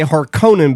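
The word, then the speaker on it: Harkonnen: Yes, we are going to say Harkon because that's how it's pronounced in this movie. I said Haronan during the Harkinan I didn't care.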